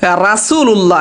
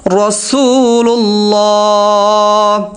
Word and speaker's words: রাসুলুল্লাহ: মুহাম্মাদুর রাসুলুল্লাহ দর্শক এখানে আমরা অনেকে বলে কি রাসুলুল্লাহ এটা ভুল হবে এটা হবে রাসুলুল্লাহ ইমামুল মুত্তাকিন ইমামুল ইমার